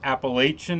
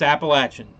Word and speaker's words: Appalachian: I don't know where everybody else in the world gets Appalachian at, but it's Appalachian. That's the way it's pronounced.